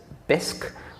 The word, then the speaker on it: Bisq: in fact it already exists one example is bisc which is spelled b-i-s-q um and uh bisque is a